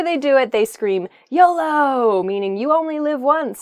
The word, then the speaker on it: YOLO: Next is really, spelled YOLO, but it's usually read as a new word. It's pronounced YOLO, and it stands for you only live once.